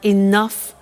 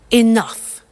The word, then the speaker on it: enough: to concerts and exhibitions, but she doesn't have enough money? Now, this word enough. Enough. It's written E-N-O-U-G-H. The pronunciation is enough.